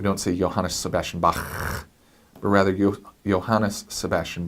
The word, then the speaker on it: Bach: than a K sound more like the German bah but notice it's not ba we don't see Johan a Sebastian Bach but rather you Johannes Sebastian Bach just a